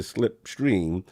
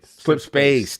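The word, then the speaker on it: Slipspace: I know a lot of people, it's controversial, but the issues we hear with reference to Slipstream is that contractors come in. Slip space.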